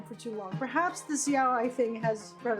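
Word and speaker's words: yaoi: Yahi. That's how you say it. Yahi.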